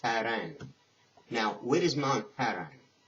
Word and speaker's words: Paran: from mount of paran it's pronounced faran now where is mount